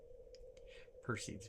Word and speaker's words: Perseids: Per seeds. Perceds if you want to pronounce it properly.